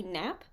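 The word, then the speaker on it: knap: noise in stage combat this replacement noise is called a nap but it is spelled k naap Miss Rio the whole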